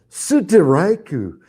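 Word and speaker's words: ストライク: And then Suteraiku. I mean, when I'm watching Japanese, like we say, strike. And that's it. It's a strike. They say Suteraiku. I mean, it's like 3 freaking syllables to say strike.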